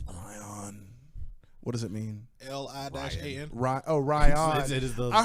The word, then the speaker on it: Lian: I thought, I yeah, went I thought it was to- Lion. Yeah. I went to. It is like phonetically, it's Lian with like accent marks.